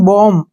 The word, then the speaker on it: bomb: जैसे नेक्स्ट है BOMB, ठीक है ना, बॉम्ब नहीं पढ़ना है इसको क्योंकि एम के बाद क्या आया है? बी, तो बी का उच्चारण हम नहीं करेंगे, इसको पढ़ेंगे हम बॉम्ब।